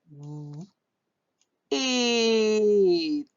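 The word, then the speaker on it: weight: The GH is silent. W, eight. Wait. Or we can put all three together because we know GH in words, especially when it comes after vowels, it's silent.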